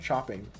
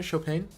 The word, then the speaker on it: Chopin: goes chest Chopin it's I know it's pronounced not CH not chopping isn't it chopan or am I dumb it's French I know